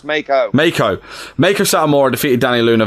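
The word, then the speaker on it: Meiko: Miko No, you did say it right, and then you corrected yourself. It's Mako.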